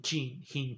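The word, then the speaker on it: Khinchin: estadística por un ruso kim jin kim jin se escribe en jim pero se h pero se pronuncia sin chin chin chin ese señor jean chin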